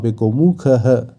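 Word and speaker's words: গোমুখঃ: করা হয়েছে আমরা জানি যেকোনো শব্দের শেষে বিসর্গ থাকলে সংস্কৃতে সেই বিসর্গের জায়গায় হ এর উচ্চারণ হয় তাই এক্ষেত্রে গোমুখ এবং তার সাথে হ যোগ হয়ে গোমুখহ এবার আমরা পরের লাইনে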